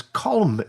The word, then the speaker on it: Colm: His name is Colm. Have I pronounced that correctly?